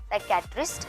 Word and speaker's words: psychiatrist: साइकेट्रिस्ट में जो है P साइलेंट होता है, PSYCHIATRIST, साइकेट्रिस्ट।